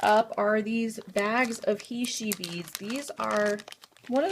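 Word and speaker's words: heishe: They are spelled H-E-I-S-H-E, he-she, and that's referring to the shape of these.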